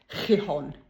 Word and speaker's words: Gijón: Anyway, but pronounced as best I can make it come out, Gijón.